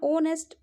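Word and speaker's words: honest: ठीक है, यहाँ पे एच को साइलेंट कर दीजिए, आप पढ़ लीजिए अपना ओनेस्ट। बाकी का जो वर्ड है उसको, बाकी के सब लेटर को मिला के जो निकलती है स्पेलिंग, वो आप प्रोनाउंसिएशन आपका सही होगा।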